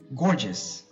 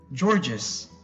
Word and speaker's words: gorgeous: that's why today we're gonna learn how to pronounce these words properly and correctly alright the first one is gorgeous I repeat gorgeous gorgeous gorgeous now I've heard people say George's or a gorgeous wrong the correct pronunciation is